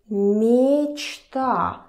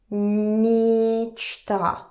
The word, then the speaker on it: мечта: And pay attention that I'm not saying мечта. Мечта. No, it's мечта. Мечта. Мечта. So again, it's almost like E.